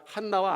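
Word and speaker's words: חַנָּה: 예루살렘의여 선지자라고 기록되어 있는데 안나의 히브리식 발음은 한나입니다 그니까 한나와 안나가 같은 거예요 그니까 한나라는 이름의 뜻은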